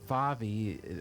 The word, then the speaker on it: Favi: you go by Faby correct but it but Favi but anyway is the correct pronunciation yeah but everybody calls you yes